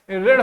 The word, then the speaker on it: ऋण: एक उच्चारण में एक पूर्ण वर्ण का प्रयोग ना करके हम लोग ऋ का उच्चारण करते हैं। क्या होता है? ऋ ऋ का उच्चारण करते हैं। मतलब इ का स्वर जो है इसके साथ आता है।